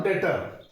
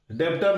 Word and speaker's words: debtor: Creditor और डेटर। देखो यहां पे ये बी जो है ना, ये बी साइलेंट रहता है, तो इसको डेटर बोलता है, DEBTOR, डेटर। डेब्टर नहीं, डेटर।